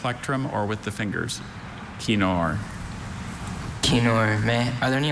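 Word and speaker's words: kinnor: Kenor Kenor. May are there any alternate pronunciations?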